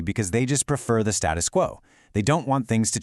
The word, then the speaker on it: status quo: Let's pronounce it status quo.